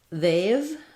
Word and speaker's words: they've: They've, thinking about that with the A sound, they've, or maybe rewriting that with AI might be easier.